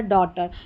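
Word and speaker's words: daughter: कई बार ये साइलेंट रहता है। जैसे कि इन स्पेलिंग्स में आप देखेंगे तो जी एच साइलेंट है। जैसे नाइट, लाइट, राइट, हाई और यहां पर है डॉटर।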